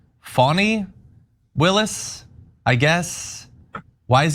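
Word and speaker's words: Fani: in more ways than prosecutor engaged by fonnie pronounced fonny Willis I guess why is he clarifying that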